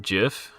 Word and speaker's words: GIF: So why does anyone pronounce GIF with a soft G then? The creator of the GIF image format, Steve whatever, when deciding on the pronunciation, said he deliberately chose to echo the American peanut butter.